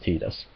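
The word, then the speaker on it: Tidus: in the city of Final Fantasy everyone says teed us all the characters say see this in that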